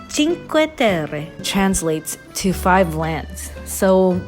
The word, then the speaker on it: Cinque Terre: eggs of europe which i just learned is pronounced cinque terre translates to five lands so we started off